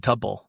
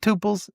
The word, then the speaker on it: tuple: It's tuples. It looks like tuples. It's pronounced tuple. I don't know why it's pronounced tuple. I just know that's the way it's supposed to be pronounced based on the people I've been taught from.